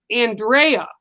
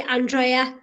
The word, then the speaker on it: Andrea: in the states it's Andrea correct yeah over there they say it sometimes Andrea so correct us both how is it that your pronunciation of your name is it's actually Andrea go Sean and he